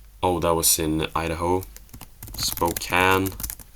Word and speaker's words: Spokane: Spokane. I always thought you pronounce it Spokane, but apparently Spokane.